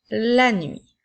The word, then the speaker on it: nuit: Je continue avec la nuit. Alors, nous avons L, A, N, 8, qui s'écrit cette fois-ci avec la lettre T qui est une lettre muette.